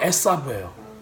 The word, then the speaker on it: 에사브: 그래서 히브리 말로는 야아콥이에요. 에서도 에사브예요.